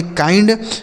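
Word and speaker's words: kind: इसे पढ़ा जाता है के से हो जाएगा क। आई का उच्चारण आई। एन से आधा न और डी से ड। इसे पढ़ेंगे काइंड।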